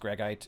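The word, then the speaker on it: greigite: I think it's pronounced gregite. It's named after a guy whose last name was Greg, spelled like this.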